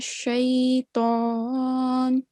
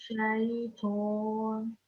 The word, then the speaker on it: شيطان: The letter Ta, make sure that we don't round it. It's a thick letter. Again, we have to round our lips, but it should just be pronounced as Mina Shaitan.